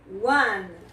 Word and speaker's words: one: One. Observe que 1 começa com a letrinha O, mas você pronuncia como se fosse um som de U.